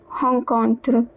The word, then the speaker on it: rencontre: cinquante quatrième leçon cinquante quatrième leçon 54th lesson une mauvaise rencontre The R is pronounced as H. E N is pronounced as on. une mauvaise rencontre A bad encounter.